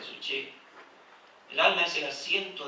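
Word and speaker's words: ψυχή: El alma, en el griego es suche, suke se escribe, pero se dice suche.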